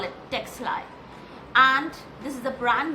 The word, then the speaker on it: Ctexli: The spelling starts with a capital c t x l i. The C is silent and that's how I call it Texi and this is the